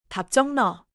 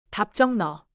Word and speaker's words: 답정너: 답정은 받침 비읍 뒤에 지이 오면 지이 된 소리처럼 나서 답정에 가깝게 발음해요.